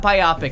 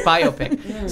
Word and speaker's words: biopic: It's not biopic. It's biopic.